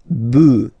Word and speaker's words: bœufs: this s, but then pronunciation changes quite much, because you get des bœufs, all right?